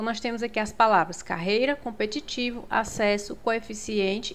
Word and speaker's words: carreira: É tanto que você, se você falar rápido, você falar assim, ó, carreira, você nem escuta o som do I. Vou dar uma carreira, né? Quando você fala carreira, dificilmente a pessoa pronuncia o I, carreira. Fala assim, carreira, né? Você nem escuta o I direito.